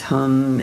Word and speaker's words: hum: The one syllable Sanskrit mantra is hum h u m as well.